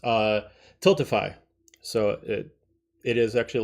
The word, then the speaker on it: Tiltify: And the link is specifically for a site, I forgot how it's pronounced, Tiltify.